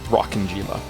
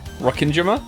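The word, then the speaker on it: Rokkenjima: I learned today that the island is not pronounced rocking Jima don't get me wrong I'm still probably going to call it that I think it's Rin Jima I think that's how I think that's how you say it but uh you know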